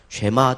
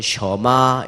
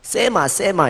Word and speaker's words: 쉐마: 쉐마 또는 발음 자체가 쉐마 또는 셔마 이렇게도 가능한데 쉐마, 셔마. 그건 이제 그 간혹 보니까 부산 발음이 세가지고 우리 성도들 중에 간혹 세마 이렇게 하시는 분도 있는 것 같은데, 그러면 약간